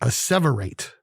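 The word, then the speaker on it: asseverate: word of the day is a separate a-s-s-e-v-e-r-a-t-e four syllables obviously there it is a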